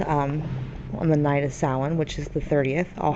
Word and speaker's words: Samhain: you guys the right way don't call it Sam hay that's not how you pronounce it we're going to call it like this Sin Sin right and some traditions and customs of uh